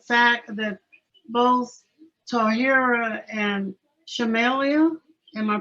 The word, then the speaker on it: Shamaila: The thing that struck me most was the fact that both Tahirah and Shamaila, am I pronouncing it correctly? Huh? Shamaila.